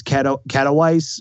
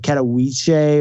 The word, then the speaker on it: Katowice: But next weekend we have the next stage of the Overwatch World Cup, which is, if you say it wrong, it's Katowice, but it's like Katowice or something like that.